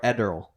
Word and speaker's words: Ederle: It's like Adderall, but with an E.